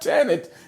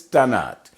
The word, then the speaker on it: Tannat: like his tannic but it's not janet it's tonight so this is from